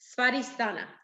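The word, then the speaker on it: स्वाधिष्ठान: And this is Svadhisthana, is how you say that in Sanskrit. Svadhisthana.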